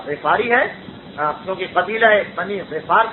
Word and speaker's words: غفاری: اس لیے کہ ان کا تعلق قریش کے قبیلے سے تھا جس کا نام ہے غفار۔ عام طور پر اردو میں غفاری مشہور ہے، لیکن عربی تلفظ اس کا غفاری ہے، کیونکہ قبیلہ بنی